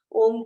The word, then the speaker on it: ओम: तो उन्हें कैसे बताना ओम का उच्चारण? वो 75% ओ और 25% म के साथ उच्चारण कर सकते हैं।